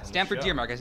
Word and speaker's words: Stamford Deermark: stamford dear mark gray Kunz great tunage yeah Stanford dear marcus i pronounce that correctly right you did okay uh